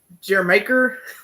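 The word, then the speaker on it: D'yer Mak'er: guitar super catchy uh Jer that's how you pronounce it I think it's supposed to sound like Jamaica it's a reggae song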